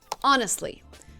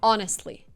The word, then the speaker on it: honestly: Honestly. Same rule, silent H. Honestly.